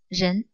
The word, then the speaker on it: 仁: talk about in this in this lesson is Jen so this is the character Jen the pronunciation Jen the meaning of this gen means benevolence or